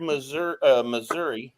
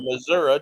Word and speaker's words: Missouri: New Madrid, Missouri, or Missouri, depending on who you are and how you say it.